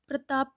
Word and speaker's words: प्रताप: अब देखिए आप इसमें बच्चा प्रताप को परताप बोलता है क्योंकि अगर हम प्रताप